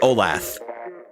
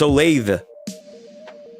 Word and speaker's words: Olathe: Olathe. I always said Olaf. Has anyone ever, like, pronounced it? Like, has Dingling ever, like, actually said, is it Olathe? Or is it Olaf? I always said Olaf. Olaf. Olathe doesn't roll off the tongue as easily, I feel. You thought I was saying Olaf until the chat got involved. I probably accidentally, like, slipped a little bit in pronouncing it. Just because I'm lazy. It's Olathe. Really?